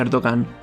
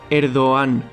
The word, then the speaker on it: Erdoğan: Así que el presidente actual de Turquía en realidad no se pronuncia Erdogan, se pronuncia Erdoğan, ya que esta letra lo que hace es alargar la vocal a la que sucede.